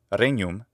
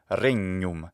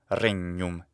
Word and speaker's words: regnum: So it must, in fact, be not regnum, but regnum, regnum. It's a geminated consonant.